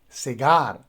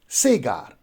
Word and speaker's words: cigar: so you see that the stress goes on the second syllable so we say cigar rather than sega similarly we have another